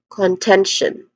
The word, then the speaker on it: contention: Then is the stressed syllable again. Again, contention.